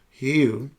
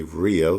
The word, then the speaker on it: Rio: like, where people from Rio, because it's not pronounced Rio, we say Rio, they say Rio because the R is silent.